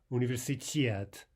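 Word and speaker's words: университет: The correct version for university, of course, is universitet. Now note here how the stress falls on the final syllable. That can be a bit difficult because it means you've got to reserve that emphasis until the very end of the word.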